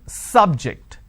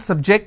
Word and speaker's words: subject: i'm using another example please don't subject the students to any tests so here my stress has moved to the second syllable for example when i